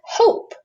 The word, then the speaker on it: hope: O, consonant, silent E. Now again, if that didn't have the E at the end, that would be hop, huh, ah, op, the short sound. But this silent E makes this O say its name. So now we have hope.